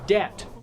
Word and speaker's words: debt: The word debt has a silent B in it.